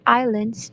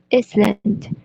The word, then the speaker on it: islands: two there and again the word islands into iceland he also mispronounced the word